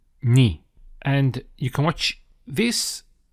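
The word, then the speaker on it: نِ: The difference being, it is below the letter, and it has an E sound. So that will be pronounced as Ni.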